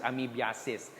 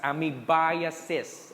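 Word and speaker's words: amoebiasis: do you pronounce it i'm sure most of you will pronounce this as ami assist guys please now that you're in a parasitology class with me okay please pronounce we pronounce this as amibaya says okay i assess another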